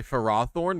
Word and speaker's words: Ferrothorn: i say pharaoh thorn i know there's some people who say pharaoh thorne which is crazy i know i know it's crazy i i that might even be the if that's the official pronunciation i don't know if i could ever switch to phirothorn i say ferrothorn and ferroseed is how i say it i thought they were